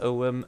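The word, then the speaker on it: Ogham: stones the writing was called orgam or ogum pronounced om okay hold on there's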